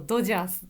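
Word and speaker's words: ドジャース: 日本語だとドジャースという発音です。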